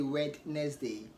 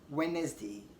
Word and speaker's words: Wednesday: Wednesday or Wednesday okay the D is silent so you don't say wet next day rather you want to say Wednesday or Wednesday okay also D